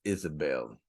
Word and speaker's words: Isabel: get out they G try to pronounce a b with a V it's Isabel so Isabelle see you